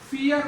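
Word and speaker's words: fear: जो शब्द जिनमें आर अंत में आ रहा है, जैसे फियर वर्ड, अंत में आर आ रहा है, फियर, तो फियर इसमें भी आर का उच्चारण नहीं होगा।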